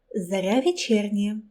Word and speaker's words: Zorya Vechernyaya: Well, they tried. Her name should be pronounced Zorya Vechernyaya.